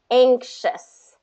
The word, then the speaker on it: anxious: got to get that it's kind of like the ing ng sound anxious and anxious so so do ang